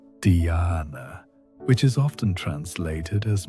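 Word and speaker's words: dhyana: The ancient texts describe this state of sustained attention as a doorway to what they call dana pronounced dana which is often translated as meditation but really means effortless awareness.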